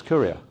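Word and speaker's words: Kuryr: I sat and stared at K-U-R-Y-R, and I thought, yeah, of course it's Courier. It's obvious.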